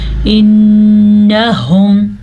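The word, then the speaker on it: إنهم: انہم پھر سے نون پہ غنہ ہو رہا ہے کیونکہ نون پہ شد آ گئی ہے. ہا کے تلفظ کا دھیان رکھنا ہے کیونکہ یہ ہا حلق کے آخری حصے سے نکلتا ہے.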